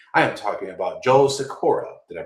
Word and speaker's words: Sykora: I am talking about Joe Sykora. Did I pronounce that right, Joe?